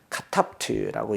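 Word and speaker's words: כָּתַבְתְּ: 단어의 끝에 오는 거는 굳이 발음하지 않죠. 원래 특성상 단어 끝에는 모음을 쓰지도 않지 않습니까? 그렇기 때문에 카탑트라고 하는데 요거는 무성이다. 습관상 으라는 발음을 붙여도 발음의 음값을 못한다. 그래서 카탑트라고 얘기하고 멜렉 여기도 멜렉 요 쉐화는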